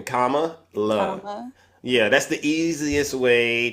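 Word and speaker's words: Kamala: but here's the thing how you pronounce it comma you know like in punctuation comma love Yeah that's the easiest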